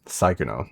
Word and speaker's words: Sykkuno: Second pronunciation was right. Psychono.